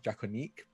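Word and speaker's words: Draconiques: I've been told by many French people that actually pronounce Draconique. I didn't know that when I made up the name. So I'm very sorry to all any French listeners who are disappointed in how I pronounce it.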